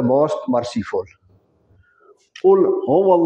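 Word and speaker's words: قُل: रखना है कि यह जो कुल है कुल और दूसरा जो काफ है बारी काफ किताब वाला उसकी अदायगी नहीं होनी चाहिए अगर हम कहेंगे कुल तो इसका मतलब है खाओ और इसको कुल प्रोनाउंस करना है आपने कुल लाद को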